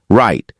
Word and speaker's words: write: Write the W is silent.